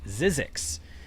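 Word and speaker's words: Zzyzx: And it's pronounced Zizzix.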